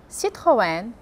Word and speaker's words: Citroën: Então, as palavras são, e a pronúncia correta é Carrefour, Paco Rabanne, Jean-Paul Gaultier, Lacoste, Lancôme, Chanel Eau Tendre, Citroën, Peugeot, Renault.